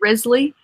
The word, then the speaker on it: Risley: Everyone else I've ever known with your last name, it was always Riley. Why do you? Even spelled the same? Is it Risley? Risley, yeah. Risley. Okay.